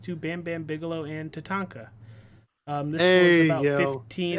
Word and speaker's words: Tatanka: there I go well you said his name wrong first I getting ready you said you said Tanaka ah damn it the